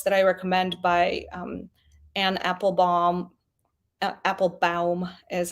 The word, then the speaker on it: Applebaum: 2 great books that I recommend by Anne Applebaum, is how you pronounce it, called The Red Famine, that talks about Stalin trying to exterminate Ukrainians in the 30s.